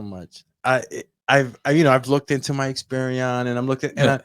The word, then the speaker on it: Experian: and I'm looking and it's Experian, not Experian. That's Omarion. I know you listen to Omarion, my brother, but your icebox used to be and all that, brother. Say it right, Experian.